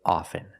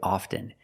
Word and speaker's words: often: With both words, I don't pronounce a T. I say soften and I say often. But sometimes you'll hear people say often. And it's not wrong. It's okay. People say both often and often.